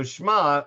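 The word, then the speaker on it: שמע: i'll show you so schma i am you'll notice is kind of a silent a silent letter it's not exactly silent again language scholars say the ion was actually supposed to be pronounced as what they call a glottal stop which means that you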